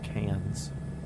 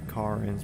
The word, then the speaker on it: Cairns: Probably the only downside is people call it cans and they pronounce no the wrong way. Other than that, probably a pretty decent spot. When should I get to car ends?